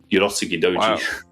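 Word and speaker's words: Urotsukidōji: Uroski Doi. I always get the pronunciate.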